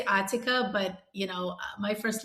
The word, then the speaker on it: Atika: So it so it's Atika or Atika. You can pronounce it either way. I say Atika, but you know my first language is Russian.